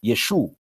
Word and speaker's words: Yeshu: a somewhat different pronunciation but western Syria it's also pronounced Yeshu and then underneath that